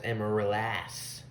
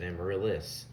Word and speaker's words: Amaryllis: with amaryllis fun fact i did not know how to pronounce it right i would always do it as emma lass yeah like that like he does in the song because i didn't know that it was just amaryllis i was an idiot